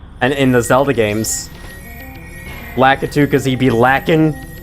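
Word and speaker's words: Lakitu: I pronounced it litu for a time, but lacatu is apparently the more correct pronunciation, so I've been switching to that as of late.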